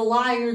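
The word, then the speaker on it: lyre: went and then orpheus the liar and the liar this is how it's pronounced and this is how it's spelled i'm serious the liar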